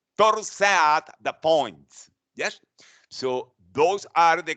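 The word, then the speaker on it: torsades de pointes: ventricular tachycardia called the twisting of the points which is in french pronounced thor's at the point yes so those are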